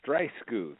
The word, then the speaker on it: Streissguth: do you say your last name it's dry scooth and it's great to be with you and